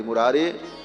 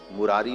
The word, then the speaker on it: मुरारे: आप लोगों ने भी सुना होगा श्री कृष्ण गोविंद हरे मुरारी हे नाथ नारायण वासुदेव लेकिन इसमें लोग एक शब्द जो बोलते हैं मुरारी मुरारी नहीं मुरारे ऐसा उच्चारण श्री कृष्ण गोविंद हरे